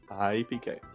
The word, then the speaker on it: iiPK: By the way, iiPK has 2 I's in his name, but as he tells people, the first I is silent. So we'll let it go. iiPK.